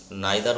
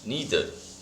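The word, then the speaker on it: neither: তারপর দেখো, আই হ্যাড নিদার food, নাইদার উচ্চারণ করবে না, নিদার করবে।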